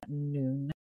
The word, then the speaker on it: Noon: go and watch Garen Noon. Noon. Spelled like no one if you're American and you don't speak Irish.